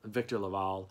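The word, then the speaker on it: Victor LaValle: a lot the VA I hear he actually says his name is Victor Victor Laval um I apologize I've been saying it wrong this entire time so I will link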